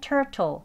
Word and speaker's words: turtle: turtle 여기 원래는 turtle 그렇지만 이 T 소리 T 발음으로 하지 않죠. water, water 하는 것처럼 미국식 발음으로요. R, R 하는 부드러운 이제 R 소리 나는 발음으로 하겠습니다.